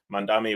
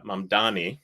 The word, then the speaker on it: Mamdani: One of the things that I thought was awesome about their commonality was Mandami was uh was uh Mandani, excuse me, I said it wrong was uh speaking to voters in Queens in particular.